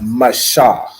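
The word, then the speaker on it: Mashah: can I pronounce it it's Masha right so it's m a ma and then s h a h sha Masha that make sense okay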